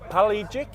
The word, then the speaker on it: Pelagic: I always say it wrong. It's Pelagic. Pelagic. Pelagic. I got it right.